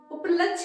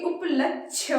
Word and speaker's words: उपलक्ष्य: और ये तो गलत है उपलक्ष नहीं उपलक्ष्य होता है ठीक है अप लक्ष्य